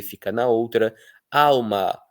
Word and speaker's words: alma: Alma, que algumas pessoas pronunciam como se o L fosse um u.